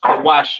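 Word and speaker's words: Cush: right and and Somalians these are your kushites you understand uh pronounced kawash in the Hebrew Syrian spelling over here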